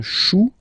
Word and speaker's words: chou: Then, un chou, okay, remember, when you combine this C and H, you get the sound sh.